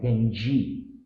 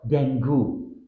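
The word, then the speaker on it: dengue: This word should sound like dengi. Common error, dengu. Tip, think of the word dingy and replace the I with an E sound, dengi.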